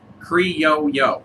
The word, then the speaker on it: criollo: The CAO was one of my cousins like, the Criollo. No, CAO Brazil. No, close enough, right? Yeah. There is a Criollo. Yes, and we both liked it. Criollo, like a yo-yo.